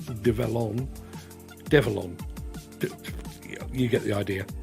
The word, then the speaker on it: Develon: few months later and somebody said it's um not develop it's develon on you get the